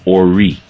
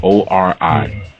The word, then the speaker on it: Ori: One of the consciousness that were created was called Ori, which is spelled O-R-I, Ori.